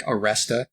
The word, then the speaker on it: Aleste: I call it Aleste because it sounds the closest to like the way they pronounce it in Japan, which was actually like Aresta with an R.